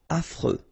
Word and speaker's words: affreux: Final X not pronounced. And then you get this freux, freux, affreux.